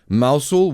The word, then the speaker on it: Mousehole: And there's down in Cornwall called Mousehole, but it's pronounced Mousehole, which is a thing.